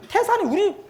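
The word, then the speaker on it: 泰山: 산동성에 가면 태산이 우리 발음하고 똑같아. 예? 따이산 이렇게 안 해. 태산 그렇게 불러.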